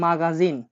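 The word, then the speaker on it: магазин: তাহলে দোকানকে বলা হয়ে থাকে মাগাজিন, মাগাজিন মানে দোকান, মাগাজিন মানে দোকান।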